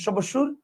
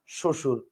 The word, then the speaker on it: শ্বশুর: দেখেন শশুর এইযে শশুর বানানের নিচে বফলা আছে আপনি কি বলেন সবশুর বলেন না আপনি বলেন শশুর আবার দেখেন স্বামী স্বামী